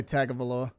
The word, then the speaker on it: Tagovailoa: I still say Tagovailoa.